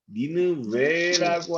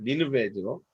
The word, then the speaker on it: 니느베: 실제로 이 영문 표기를 보면 니느웨라고 하는 것보다는 니느베가 훨씬 더 원어적 발음에 가까운 것 같습니다. 니느베죠.